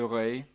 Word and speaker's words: Ré: But then take the car or the scooter over to this island, Ile de Ré, so Ré, R-E, with an accent on the E.